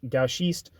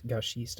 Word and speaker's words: gauchiste: It looks like gauchist, but it's gauchiste, I believe that's how you say it. I think you say CH's with like a sh sound.